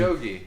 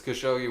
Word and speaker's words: Khashoggi: More I mean, so now, like since that guy, I don't know how to pronounce his name. Khashoggi.